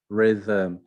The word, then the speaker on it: rhythm: the gh not spoken rhythm rhythm the h is not spoken should the l is